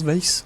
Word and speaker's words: vase: Yeah, is it vase? We say vases. Americans say vases. I'll go with vase. You have to say vase. Right, otherwise all of our British listeners will be like cursing you.